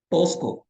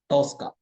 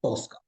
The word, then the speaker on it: Tosca: The pronunciation is Tosca, guys. Tosco. They will call it, somebody call it as Tosco. Okay. No, don't call like that. It's a Tosca. Tosca. Tosca.